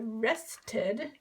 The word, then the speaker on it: rested: it's just one syllable rested sounds like two syllables or is two syllables because of this t you can't say rest d it doesn't work so rested any verb ending with a t sound gets an is an extra syllable rested okay some examples